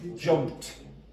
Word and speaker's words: jumped: Jumped. Jumped. Now, why? Why is that t? Why is that t, Wayland?